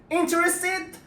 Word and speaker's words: interested: the pronunciation after n if you have t after n never pronounce t if you want to sound like native speakers but you don't need to right interested interested in or interested